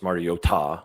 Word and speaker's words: Mariota: you feel about Marcus Mariota, which is he mispronounced his name. It's Mario Ta.